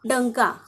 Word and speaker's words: डंका: तो शब्दात सुरुवातीला आहे ड वरती अनुस्वार आहे डंका ज्यावेळी आपण बोलतो त्यावेळी अन चा उच्चार होतो आणि अन ला इंग्लिश